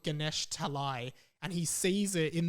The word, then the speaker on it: Ganesh Talai: that and finds his hometown which is called ganesh talai but when he was five he was pronouncing it as ganeshtali so he was always looking for ganeshtali but it's actually called ganesh talai and he sees it in the movie he's